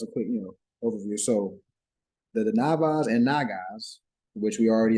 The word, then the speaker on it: Danavas: So I'm gonna look up Devanas real quick, see what they say. Devanas. And remember, the Aryans is the ones that See the fathers, Devanas. the leaders. No, it's actually Danavas.